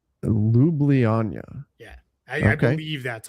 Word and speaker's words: Ljubljana: It's Ljubljana. Ljubljana.